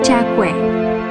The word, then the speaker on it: Cakwe: Kalimat "dijual hui goreng" diucapkan dengan bahasa setempat, Yu Za Gui, yang pelafalannya You Cakwe.